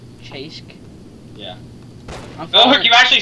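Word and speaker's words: Cześć: that's how you say hi in polish it's pronounced chase chase yeah you actually said something right i killed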